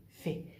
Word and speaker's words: fait: desecho, de ce fait, fait. La T no se pronuncia, no digo de ce fait.